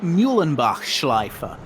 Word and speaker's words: Müllenbachschleife: In fact, this entire layout, this is the shortest layout at the Nurburgring Grand Prix circuit, and it's pronounced Müllenbachschleife.